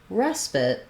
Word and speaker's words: respite: in the word so when we're talking about respite we have first syllable stress so this letter e